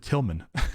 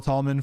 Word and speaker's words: Tallman: I said your last name wrong. I said Tillman, not Tallman. All right, everybody. That was our conversation with Jill Tallman from AOPA.